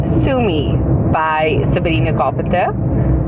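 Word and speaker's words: Sue Me: song is so this week's song is called Sumi by Sabrina Carpenter it's spelled s u e and then space m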